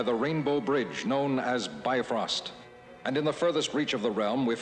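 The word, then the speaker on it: Bifröst: the prince of evil aside from the mispronunciation nation of be frost this is off to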